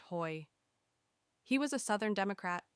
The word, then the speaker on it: Hoey: even more dangerous, the Hoy Commission. The name comes from Senator Clyde Hoey, spelled H O E Y, but pronounced Hoy.